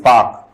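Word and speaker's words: Palk: This is पाक, PAL के पाक. L इज साइलेंट, L इसमें साइलेंट रहता है.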